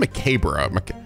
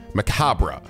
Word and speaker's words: macabre: turn or macabre this macabre i pronounced that word macabre macabre no i guess i was right i said mccabe bro macabre thank you google like i always thought